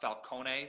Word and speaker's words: Falcone: Actually, I think it's supposed to be pronounced Falcone because it's Italian, but Yeah.